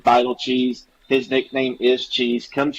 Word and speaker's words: Beitelcheese: But Coach Van Horn said Beitelcheese.